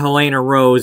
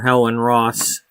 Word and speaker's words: Helena Rose: Um, yeah, he's saying it wrong. Instead of Helena Rose, he's calling her Helen Ross.